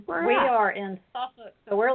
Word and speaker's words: Suffolk: It's spelled Suffolk, but they pronounce it Oh, Suffolk. okay. It's the peanut capital. Yes. Mr. Peanut. Mm-hmm. But Yeah, those of us who me. are from here would call it Suffolk.